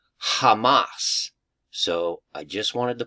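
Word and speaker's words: חמס: It's the Hebrew word H2555, and it literally is pronounced Hamas.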